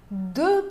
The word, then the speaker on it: deux: Pode ver também isso no deux pantalons, duas calças, deux pantalons. Não se pronuncia nem o X de deux, nem o S no final de pantalon.